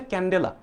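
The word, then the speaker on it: candela: আসতে দেখা যায় ক্যান্ডেলা এটার যে উচ্চারণটা হচ্ছে ক্যান্ডেলা একটু আনকমন গুলা বেশি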